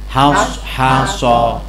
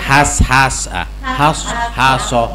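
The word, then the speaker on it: حَاشَ: Jadi tidak sekedar baca hasha, tapi baca mulutnya gimana? Haso. Enggak boleh dibaca has su sosi nah udah gitulah ya.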